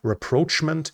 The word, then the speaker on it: rapprochement: I think it's in English it's pronounced rapprochement between the Arabs and Israel.